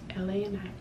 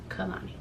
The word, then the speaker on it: Kalani: I was like, I want to spell it how it's supposed to be pronounced. So Kuhlani, Kalani.